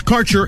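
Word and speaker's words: Kaercher: cannabis Insurance Services is spelled k a e r c h e r that's carer insurance we have worked with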